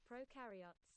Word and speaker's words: prokaryotes: other fragments of genetic material were identified in prokaryotes, whatever it's called.